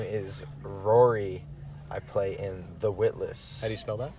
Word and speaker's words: Ruairi: the shotgun seat yep uh my name is Rory I play in the witness how do you spell that which which part Rory R u a